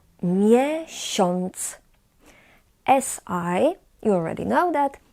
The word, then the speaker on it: miesiąc: as we call it, we pronounce in this particular word as on, like in an English word pond.